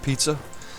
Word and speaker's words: Pisa: Why does Savoy owns Pisa? Alright. Actually, it's pronounced pizza.